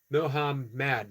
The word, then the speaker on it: Mohamad: you want to know my name is pronounced Mohamad Mohamad UMass hiar like hater